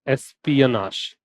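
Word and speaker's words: espionage: इसका प्रोनाउंसिएशन एसियनाश।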